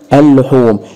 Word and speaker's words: اللحوم: الحرف اللي بعديها مشدد يبقى اللام الشمسيه تكتب ولا تنطق اللحوم هتقوللي دي ات نطقت هقول لك لا اللي اتنطق اللي هي اللام الثانيه اللي هي المشدده اللحوم وعشان كده لو قلنا